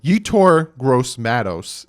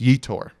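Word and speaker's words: Yetur Gross-Matos: I get flamed for not saying these correctly you tore gross Mattos is my number three and yes that's how you pronounce that I even listen to him say it it's you tour actually watch the video where his father said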